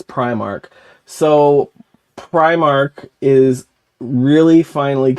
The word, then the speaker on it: Primark: this saying that pry I think it's technically Primark you said Primark in the video though which is what we call Philadelphia we call it prar listen everyone pronounces it